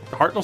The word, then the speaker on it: Hartnell: or farrell uh decent scott hartnell isn't it it's hartnell spelled with an e can you trade up